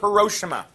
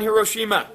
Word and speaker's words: Hiroshima: I say Hiroshima. You probably say potato too, right? Who's in Japanese class? You study a little Japanese, right? How do you say it? I think it's Hiroshima. Hiroshima. Okay. I've always stretched it out, I guess, a little bit.